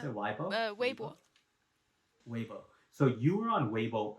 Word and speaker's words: Weibo: Do I how do I pronounce Yeah. it? Weibo? Weibo? 微博. Weibo.